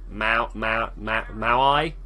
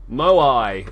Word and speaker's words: Moai: Maui. Oh look, wait. There's a listen here. Here we go, guys. We're going to learn. Moai. It's the Moai.